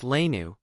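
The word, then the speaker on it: léine: saffron colored belted tunics called Lane pronounced lanu the plural being l pronounced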